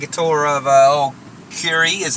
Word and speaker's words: Kure: We're going to take a tour of uh oh, Curi is how it's pronounced. Um it's not Cure.